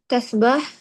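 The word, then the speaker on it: تسبحُ: तस्बहा पे पेश पढ़ तस्बह लीजिए, बाकी ठीक है बिल्कुल। तस्बह तस्बहू तस्बहू।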